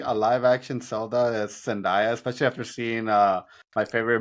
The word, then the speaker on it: Zendaya: What was Zendaya?